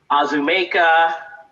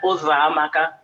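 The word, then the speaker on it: Uzoamaka: And I would have teachers or anyone, neighbors, try and say my name, and it would be Azumeka, Uzamaka, Uzakuza, any version that they could think of other than Ozamaka.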